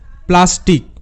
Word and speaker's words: plastic: তো এখানে PL তে পয়লা সাউন্ড হবে প্ল, AST, আস্ট, তো প্ল আস্ট, এটা হবে প্লাস্ট। কিন্তু IC এর সাউন্ড হয় ইক, আই এর উচ্চারণ হ্রস্ব ই, সি এর জন্য ক, তো এটা ইক, প্লাস্ট প্লাস ইক, প্লাস্টিক, প্লাস্টিক। সো এখানে তো আমরা বুঝলাম